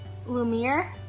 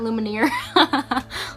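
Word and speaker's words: Lumière: I couldn't get it Lumiere Lumiere not Luminaire Lumiere and this is um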